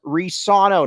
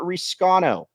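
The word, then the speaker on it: Reescano: second and again Shear try saying it correctly like Portland Timbers does reano not Rano come on yeah it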